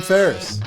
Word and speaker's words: Faris: baby and we got a big guest adam ferriss thanks for having us that's how you pronounce it yes sir i figured i figured